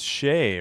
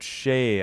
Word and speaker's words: Skjei: Is it Shea? All right, I guess by this it's Shea, right? All right, I'll go. How do you get Shea out of SKJEI?